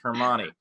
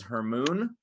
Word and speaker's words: Hermione: of it, and so she pronounced Hermione as Hermoon. Hermione. Or Hermione. No, yeah, it was Hermione.